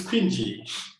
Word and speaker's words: Kwingy: fall hands what's the problem what's the proper pronunciation so we can get it right um it's cringy cringy okay yeah um so what prompted pinji